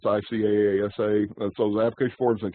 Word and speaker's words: ICASA: And this acronym is usually pronounced ICASA, but it's ICAASA.